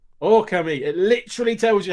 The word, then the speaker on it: Okami: for this conversation last week and it says oh comey it literally tells you how to pronounce the game and just because people want to go akami for some reason like it literally tells you